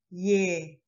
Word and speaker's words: ㅒ: Like a, open your mouth wide and drop jaw and say ye.